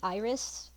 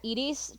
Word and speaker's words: Iris: call her edies because that's the way I pronounce it so I'd also I know it's supposed to be Iris but I'm gonna call her edies just like I did just like I did